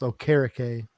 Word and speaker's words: Okereke: Future Hall of Famer, Bobby Okereke, which is actually pronounced Okereke.